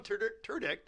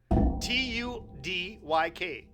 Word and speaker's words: Tudyk: I don't get no phonetic spelling. So Alan Turdick, I mean, it should be phonetically put out there so I know how to say it. You added letters to it. Turdick. You Turdick. Tudyk. Turdick. Alan Turdick.